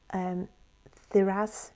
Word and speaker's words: Thurisaz: Okay, and we have, it's actually called Thuraz. It's spelled Thurisaz, and it represents it's like power, force, and also a defence mechanism as well.